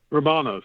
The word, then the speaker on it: Rumanos: how do you say the last name again Robo nose robots yeah I was like let's see there